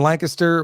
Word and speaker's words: Lancaster: lived in Coatesville and Lancaster which you're one of the few people that would understand that we pronounce it Lancaster not yeah Lancaster as everybody else oh yeah man I'm